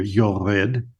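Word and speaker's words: יוֹרֵד: Usually in modern Hebrew there'd be a vav here, yored, so a vav with a dot over the top, which is over.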